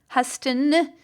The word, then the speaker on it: Huston: So thanks, Stephanie Huston. That's how you pronounce that.